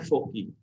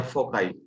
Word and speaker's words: foci: Plural form होता है फोकी। तो ये जो दो फिक्स्ड पॉइंट्स है ना, वो दोनों फोकस हैं, तो हम इन दोनों पॉइंट्स को बोलते हैं फोकी या फोकाई, जैसे भी प्रोनाउंस करो।